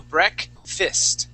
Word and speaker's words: breakfast: So that the AS at the very end is actually pronounced like an IS. So breakfast.